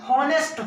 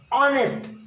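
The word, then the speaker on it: honest: यह हॉनेस्ट होता ही नहीं है, यह है ऑनेस्ट, दैट इज ऑनेस्ट, जिसमें अ की प्रबलता होती है।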